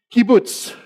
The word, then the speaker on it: kibbutz: means so this is it is a kibbutz not keyboard key boots key boots in Hebrew means uh